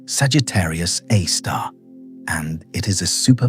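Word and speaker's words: Sagittarius A*: A source named Sagittarius a star pronounced Sagittarius A star and it is a super massive black hole.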